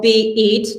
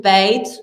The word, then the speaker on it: Beit: name it as you want it and you pronounce it as you prefer, because this is quantum name. So if you tell BEAT, that's fine. If you tell BIT, that's fine. We usually call it Beit, and this comes from Jewish, meaning home.